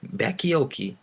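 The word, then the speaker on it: Bacchiocchi: Bakioki is spelled Bacchiocci.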